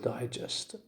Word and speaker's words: digest: syllable of the word digest readers digest readers digest this this is on the first syllable of the word digest can i say digest the word the stress is on the second syllable i say yes i